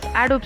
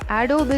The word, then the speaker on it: Adobe: So number one in that list is Adobe Stock. And one more information before starting, Adobe is Indian English pronunciation and Adobe is British and American English.